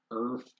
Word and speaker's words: Urth: world of these books it's spelled u r t h Earth with a u um taking place in